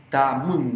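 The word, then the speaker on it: tamün: Tamun. Ahí está la U esa que cuesta pronunciarla un poco. Tamun. Como Tamun. Tamun. Tamun. Es Tamun. como una U más baja, así.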